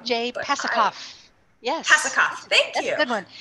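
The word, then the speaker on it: Pasachoff: stars and planets by pasichoff i might be pronouncing that wrong jay pasikov yes thank you good one yeah jay is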